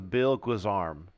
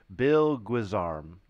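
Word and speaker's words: bill-guisarme: this weapon here I would call this a bill guzarm bill Goose arm Bill guisarm oh here's a great one here's the Goddess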